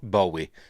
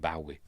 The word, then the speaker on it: Bowie: I've always, ever since I was a kid, I know it's pronounced Bowie, but I've always pronounced it Bowie.